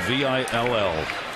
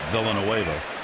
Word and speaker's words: Villanueva: And for those wondering, yes, his name is spelled Villanueva, but he does not pronounce it Villanueva.